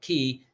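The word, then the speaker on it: Caye: Key is spelled C-A-Y-E. C-A-Y or K. People say K, but Key, C-A-Y-E, Key International Bank.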